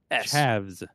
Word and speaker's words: chavs: mean rednecks yeah we call them chabs chaps chavs uh how do you spell that c h a v chavs okay yeah okay I I thought you were